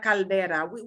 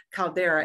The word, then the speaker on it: caldera: y se dice la caldera tenemos esa la misma palabra con otra pronunciación caldera en inglés pero caldera así la caldera es es